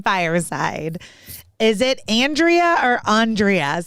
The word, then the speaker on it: Andrea: is it andrea or andreas so i am pronouncing first one it's andrea okay i thought so